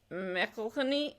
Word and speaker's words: McElhenney: Rob mcelhenney and because everyone pronounces his name wrong because it's Mecca honey it looks really hard